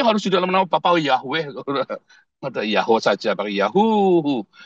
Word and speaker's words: Yahweh: Kalau bilang Yahwe, Yahwe, Yahwe, Yahwe itu cuma empat mainan kayak sama seperti kalau kamu bilang Yahoo begitu, Saudara ya. Karena tulisannya sama Yahoo sama Yahwe itu bacanya sama tuh Yahoo ya.